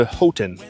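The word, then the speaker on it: Houghton: little pit stop and we are almost to H Hotton. I had a local tell me that's how it's pronounced.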